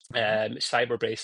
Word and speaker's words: Cybrbrace: Cyberbrace, it's spelled CYBRBRACE.